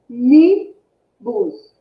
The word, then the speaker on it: ônibus: Separando a sílaba, qual a sílaba que vai ser mais forte? Ó. Ônibus. Tem 3 sílabas, né? Ônibus. Qual é mais forte? É o on, que ocupa qual posição na palavra?